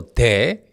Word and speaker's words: 데: But when you actually hear the Korean word, the Korean syllable de, it sounds more like te e because Korean consonants have a tendency to be more tightly abruptly articulated pronounced all of a suddenly than many other sounds in other languages.